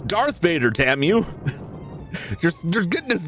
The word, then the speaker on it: Darth Vader: Dark it's Darth Vader. Tam you you're getting his name wrong.